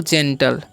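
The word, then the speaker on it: gentle: एल तो इसे क्या पढ़ते हैं हम लोग जेंटल ओके यहां पर जी के ए जी आई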